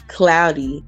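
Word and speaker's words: Cloudi: ey Vision te but it's cloudy with an i c l o u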